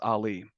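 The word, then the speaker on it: Aly: a South Asian so my name is spelled a l y but it's pronounced Ali I still remember this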